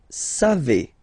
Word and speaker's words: savez: Then vous savez. Classic ending for vous, EZ, but then phonetically it's et.